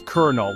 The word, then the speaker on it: colonel: so here's the deal it's kernel like kernel as in popcorn kernel I know it makes